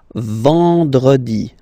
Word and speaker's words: vendredi: Then, E-N, nasal, and it's en. En. So remember, vendredi. Vendredi.